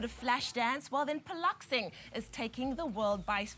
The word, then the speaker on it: Piloxing: do that good morning tell us what is poloxing exactly am i saying it right yes very